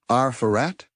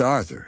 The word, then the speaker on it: Arthur: As in Arat? Arthur looked perplexed, having never considered his name as anything other than his name. "Um, it's just Arthur," he said, pronouncing the th as clearly as he could.